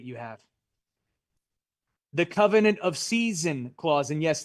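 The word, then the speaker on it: seisin: The covenant of season clause, and yes, that's how you pronounce it, like the 4 seasons.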